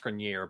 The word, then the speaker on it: Grenier: his last name, but I think it's pronounced Grenier, but I'm not. Of course it is, because I tried to do the French fancy kind, and that's not what it is.